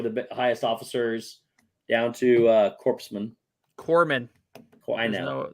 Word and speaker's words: corpsman: Nova Prime, Centurion, Nova Primes are the highest officers, down to corpsman. Corpsman. I know There's no P or S. there is a P and an S. Not in the pronunciation.